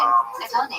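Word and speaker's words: Adonai: The correct pronunciation, Adoni.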